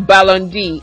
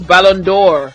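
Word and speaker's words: Ballon d'Or: like BBA fans said it's not Balon D it's bondor if you're going to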